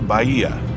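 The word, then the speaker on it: Bahía: and it is tacos bya you do not pronounce the h we were saying it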